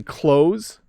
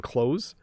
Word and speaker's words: clothes: on clothing okay notice the slight difference in pronunciation though we say close we hardly say the th at all like i'm wearing clothes it sounds a lot like close the door